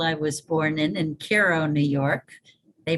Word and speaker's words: Cairo: of the hospital i was born in in cairo new york they pronounce it cairo when it's in egypt but it's cairo in the hudson valley uh within a mile